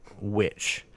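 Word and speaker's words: The VVitch: There's an amazing movie called Witch, and it's oddly spelled. It's spelled VVITCH. Okay. But it's the Witch.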